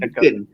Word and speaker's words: Daken: Aku sebut Daken. Macam Darken tanpa R.